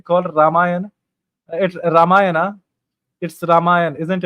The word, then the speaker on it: रामायण: तो रामायण सही शब्द है, रामायणा नहीं है।